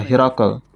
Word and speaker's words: Hirakal: Dalam satu riwayat diketahui bahwa beliau Shallallahu Alaihi Wasallam melafalkannya dengan Hirkal, meski yang seharusnya adalah Hirakal. Dalam bahasa Urdu, pelafalan Hirakal tidaklah dipergunakan, sehingga jika ingin mengatakan Hirkal, hendaknya melafalkannya sebagai Hirkal.